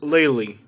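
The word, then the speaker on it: Lely: it's part of the naples area and it's pronounced laylee laylee is it laylee or laylee lately like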